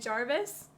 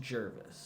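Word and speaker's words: Gervase: BB and Jarvis? Is that his name? I think it's pronounced Jervis.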